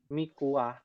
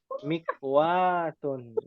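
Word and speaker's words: مكواة: Ma hadhihi Mikwah. Bacanya yang benar ya, bukan mikwah, bukan. Mikwatun. Ya. Mikwatun sahih.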